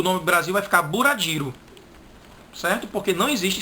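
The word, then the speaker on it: ブラジル: Isso aí, para o japonês, vai ter 2 sílabas. E ele vai colocar um U depois do B. Vai ficar bura. É tanto que Brasil, eles não vão ler assim, bra. Eles vão ler bura.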